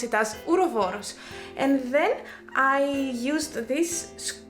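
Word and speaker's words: ouroboros: greek i would say urovoros because it's actually a greek word ura means that they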